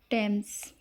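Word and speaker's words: Thomas: Like thick three thin thread दिस then दैट there fourth rule है TH Hindi का अक्षर ट की ध्वनि देता है। जैसे यह देखिए टेम्स और ये टॉम्स व्यक्ति का नाम।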